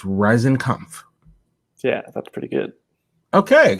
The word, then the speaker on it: Riesenkampff: It's Riesenkampff.